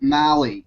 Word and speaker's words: Maly: to Malley and is that my pronouncing your last name right hardly anyone pronounces that right you gotta get on thank you sir I appreciate that very much so you got it so what we're going